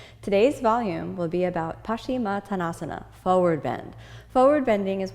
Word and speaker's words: Paschimottanasana: words together pashima tanasa now sometimes you'll hear this pronounced in Sanskrit pasim tanasa these are both relatively acceptable um some different Traditions than the Ashtanga tradition which is what I'm in we say pasim tasana and some other styles